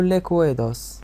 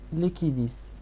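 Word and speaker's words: liquidus: بحال باللغة الاسبانية كنقولوا ليكويدوس، باللغة الانجليزية ليكويداس. اما النطق ديالها راه كيمشي بحال سوليديس ليكيديس. حنا في لاشين ديالنا كنقولوا ليها ليكويديس، احترمنا السياق ديالها في اللغة الفرنسية وكذلك سهل النطق ديالها.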